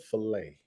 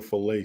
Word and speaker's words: filet: command fill it sounds like the tea is silent for the accent over